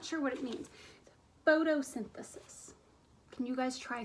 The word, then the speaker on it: photosynthesis: that word photo synthesis now that one's a little tricky because it has the foot foot sound at the beginning right but I don't see an F what do we see